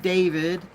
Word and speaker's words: D4vd: But prior to that, we will talk about that singer D4 VD, pronounced David, and his improper relationship with a junior high school girl named Celeste.